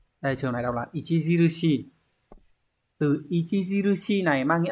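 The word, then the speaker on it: 著しい: Đây trường này đọc là Ichijirushi.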